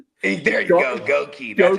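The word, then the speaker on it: Goedeke: Goki. That's how we're supposed to pronounce Goki.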